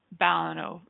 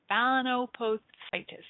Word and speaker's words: balanoposthitis: that forkin is inflamed the condition is called balanoposthitis balanoposthitis can you guys say that let's spell it kids b a l a n o